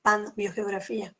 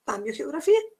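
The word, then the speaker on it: Pambiogeografía: el pan mío geografía pero lo correcto es con emi viene del vocablo aunque significa todo vio geografía que es la geografía en la vida pero como gramática española se escribe m antes de ver se acuerdan de sus clases de la primaria entonces lo correcto es decir cambio geografía y que es una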